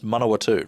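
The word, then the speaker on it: Manawatū: comedian from the manatu I think I'm pronouncing that correctly they always laugh at me the way I say it I think I used to say oh no it's manowa 2 that's the correct way you say it I I would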